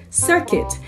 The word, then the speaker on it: circuit: we have this word circuit if you look at the word very well you're going to see that it spells very close to biscuit so they have a silent U both words okay so circuit